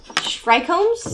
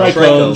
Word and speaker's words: trichomes: Oh no, trichomes. Would you like me to Trichomes. Trichomes.